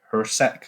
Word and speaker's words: Jurasek: And there is the rumours around Jurasek, I believe. Someone corrected us that the J is pronounced as a H.